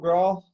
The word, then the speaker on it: Graul: How do we pronounce your second name? Graul. Graul.